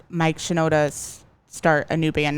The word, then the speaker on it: Shinoda: I never say his last name right. Shinoda, I think is how you pronounce it.